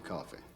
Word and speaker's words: Coffey: Your name is John Coffey. Yes, sir, boss. Oh, okay, that's John Coffin. Okay. Like to drink, only not spelled the same.